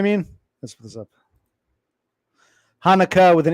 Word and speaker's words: Hanukkah: Hanukkah with an A, Hanukkah, or the silence. It's pronounced the same, but in this part of the country, you'll see the silent C.